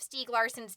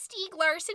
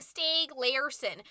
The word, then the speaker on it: Stieg Larsson: you sure it's pronounced Stieg Larsson because I've been saying stay gleason and that's because of our regional dialect it's Swedish so you're supposed to say it like it's Swedish and I'm 20% Swiss